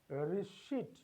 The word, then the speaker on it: receipt: It is not pronounced as receipt, it is pronounced as receipt, because P is silent here, it doesn't have the sound, and it is called receipt.